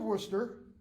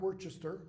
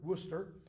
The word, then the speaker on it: Worcester: visit then you have Earl of Worcester not Worchester Worcester northland's younger brother Lord